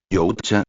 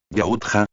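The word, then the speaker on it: Yautja: Yuta, pronunció mal Adrien. Yauta, corrigió Katja.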